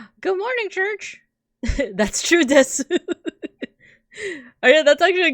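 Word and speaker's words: です: That's true, desu. Oh yeah, that's actually a good example. The desu at the end would actually be pronounced like des.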